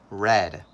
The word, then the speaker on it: read: past tense passed sense the word is the same but we say this word different in past tense we say red in present tense it is read in past tense it